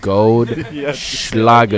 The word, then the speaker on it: Goldschlager: The gold Schlager. You got to say it with the SH.